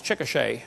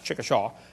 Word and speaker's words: Chickasha: 2005 textbook, and I pronounced it wrong as Chickasha, not Chickashaw, Chickasha, Oklahoma. I got corrected during the break.